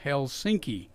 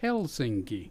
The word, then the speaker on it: Helsinki: la se yeah okay finish the accidents always on the first syllable okay every single word and every single name okay for example Dan Rather was on TV and he talked about Helsinki mmm-hmm I bought threw